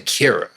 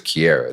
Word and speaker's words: Kiara: You called it, but y'all kept saying Kira. I was trying to blend it all together because I didn't know how to say her name. Yeah, she was Kiara that entire time.